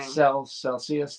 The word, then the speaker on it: Celsius: Celsius, that's how you say it.